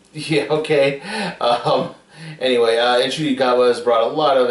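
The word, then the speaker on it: Ncuti Gatwa: an a um like I said fun uh shoy gowa is bringing a lot of I'm sorry iny gwa is bringing in a lot of energy um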